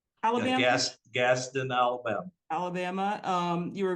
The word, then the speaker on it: Gadsden: I want to start from the beginning, and please correct me because my pronunciation sometimes goes way south here. But you were born in Gadsden, Alabama. Gaston, Alabama.